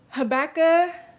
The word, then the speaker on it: Habakkuk: For my brothers and sisters in the Lord, hallelujah, hey, Habakkuk is how you say it.